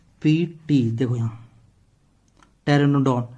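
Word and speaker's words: Pteranodon: से मैंने क्यों बोला, क्योंकि पी से तो आपका पी साइलेंट होता है। टी से क्या होगा, टेरेनोडॉन।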